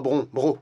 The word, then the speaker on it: Brongniart: Pas Bro. Ça s'écrit Bron, mais ça se dit Bro. Ah. Brognard, c'est le nom de l'architecte.